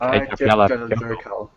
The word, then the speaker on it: Eyjafjallajökull: I can pronounce it though. It's something like Eyjafjallajökull.